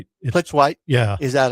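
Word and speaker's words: Plitzuweit: Dawn, I never know how to say the name, Plazuric. Plitzwhite.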